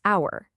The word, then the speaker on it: hour: The letter is H, right? But the H is silent. The sound is hour.